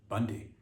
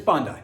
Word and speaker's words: Bondi: What if it was, yeah, again, I'm glad somebody said it, because maybe I would have read it as Bundy. Like Dundee, but yeah, it's Bondi.